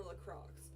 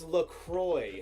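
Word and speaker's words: La Croix: It was It was like handing telling someone that they're about to drink Coke and you handed them a lacrosc what the did you just call it?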